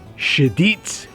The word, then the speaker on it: Cheddite: by the way and I think the proper pronunciation is shedit they're like targeting the